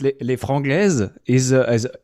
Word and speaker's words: Les Franglaises: Le Frangleses, is it? And that's a horrible pronunciation.